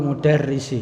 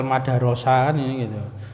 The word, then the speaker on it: mudarris: astikaul mudarrisi ya jadi Sudah tahu ya cara membacanya ini mudarris karena ada terbiasa kalau tidak tahu kan Ini bacane dibaca fathah semua bisa Al madarosa jadi karena sudah terbiasa ini bacanya modarris dijadikan Tumblr ya teman teman